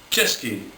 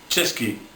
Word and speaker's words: Český: Now to pronounce this, you've got to say it like the English word for cheers, like Český, which means Czech. So that's the first one. So remember that? Český, ch.